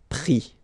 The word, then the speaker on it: pris: And then prendre, so e-n-d-r-e, will give es, pris, okay. Same thing here, you don't pronounce the final s, okay.